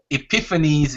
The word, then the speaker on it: Epiphanes: Epiphanes is Epiphanes.